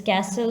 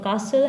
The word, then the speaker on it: castle: over here that is castle or castle has two pronunciations either you could use the british or american version it's up to you